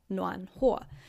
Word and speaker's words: 暖和: So this 和 has got a different pronunciation. It is 和, 暖和.